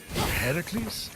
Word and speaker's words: Heracles: Heracles. Yeah, that that is how it's supposed to be pronounced.